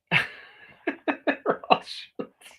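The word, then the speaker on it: Rothschild: Roth shields. Thank you for pronouncing Roth Roth Shields correctly. Hardly anybody does.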